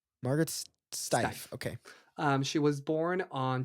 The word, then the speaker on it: Steiff: So I want to introduce you to Margaret Steve. Stife. Margaret Stife. Steiff.